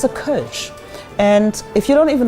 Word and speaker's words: Kölsch: It's a Kölsch. And if you don't even know how to pronounce it, ask somebody to help you to pronounce this beer.